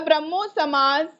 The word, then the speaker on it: ब्रह्मो समाज: द ब्रह्मो समाज द ब्रह्मो समाज under Raja Ram Mohan Roy.